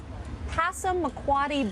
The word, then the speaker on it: Passamaquoddy: George Neptune, Molly Neptune Parker, they are a grandmother-grandson team that is doing the art of Passamaquoddy basket making.